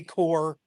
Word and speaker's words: corps: an all black women's Army corpse unit that was sent to the European theater to clear a backlog of mail Army Core sorry all right listen we we pronounce our P's in our letters here in New Jersey all right Tyler what